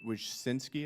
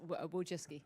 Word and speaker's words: Wojcicki: Miss, excuse me, Wojcinski, is that how you pronounce it? Yes, Wojcicki.